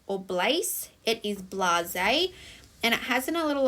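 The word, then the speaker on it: blasé: are quite tricky now this word is not blaze or blaze it is blase and it has a little apostrophe up the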